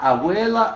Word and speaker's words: abuela: Olha a divisão. Abuela. A segunda é a sílaba tônica, não a primeira.